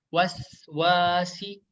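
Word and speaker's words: وسواس: Waswasi bukan wasewasi. Nah, itu kurang tepat ya. Yang benar itu adalah waswasi.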